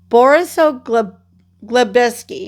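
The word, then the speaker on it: Borisoglebsk: Borisoglobeski, yeah, I said it right.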